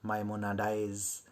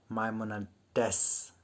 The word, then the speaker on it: Maimonides: A guide for the perplexed was written, believe me, by Cordoba's Jew, Maimonides, in Arabic. God, I mispronounced the name, but because I haven't heard of this writer.